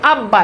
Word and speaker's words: আব্বা: যেমন আব্বা এখানে দেখেন বয়ের সাথে যুক্ত হয়েছে, এখানে দেখেন যুক্ত রয়েছে।